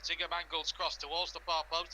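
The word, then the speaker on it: Zinckernagel: Ryan Yates looks towards Ziger Mangle. That's what we're going to pronounce him as. Ziger Mangle's cross towards the bar post headed away for a not forest corner on the far side.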